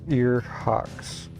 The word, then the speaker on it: Ear Hawks: Mine's pronounced ear hawks. Ear like ear, and hocks like ham hocks.